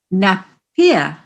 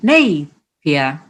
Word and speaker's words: Napier: Apparently, older locals used to pronounce the Lord Napier pub as Lord Napier rather than Napier.